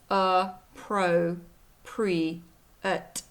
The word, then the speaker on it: appropriate: here here's the pronunciation it has four syllables a pro pre-at and these upside down